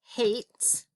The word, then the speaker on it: hate: there's the long a hate i know i can't leave it at this because that's hat if i put e on the end that silent e makes the long a say or i'm sorry the